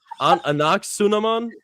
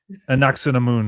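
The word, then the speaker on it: Anck-su-namun: Oh wait, is it Anaxunamun? Anaxunamun. No, so I think a moon. Okay, moon at the end.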